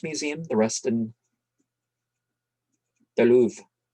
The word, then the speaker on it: Louvre: This papyrus is torn in two, part of it being in the British Museum, the rest in the Louvre. I don't think you pronounce the R-E.